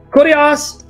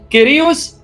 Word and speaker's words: Kyrios: Okay, guys, if you click on the link, you're going to see, Kurios, Hais, Estin. That's the Erasmian way. Steve, who speaks Greek, liked it when I pronounced it the Greek way. Kyrios, Is, Estin.